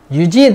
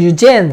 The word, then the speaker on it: Eugene: 유진 또는 유젠 그렇게 발음합니다. 저거 유젠 또는 유진 그렇게 발음해요. 유진 미국에서는 유진, 영국에서 유젠 그러더라고.